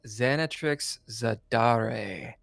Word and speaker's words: Xanatrix Zadare: ] today it's the third episode we got xanat Trix zadar did I pronounce that right xanat Trix you did and